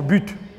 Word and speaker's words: but: mais si on met si je ne prononce pas le thé il y a des élèves qui peuvent peut-être écrire but but santé et là ça devendra comme bu leur propre but quand